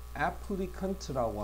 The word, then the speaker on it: applicant: 되는데, 맨 처음에 이 applicant라고 하는 건데, 여기 발음을 잘 봐. 여기서 발음은 cant라고 발음한다. 그래서 지원자가 돼. applicant. 근데 여기서는 cation이야. K로 발음하죠, 그지? 그래서 강세도 이건 앞에 있어.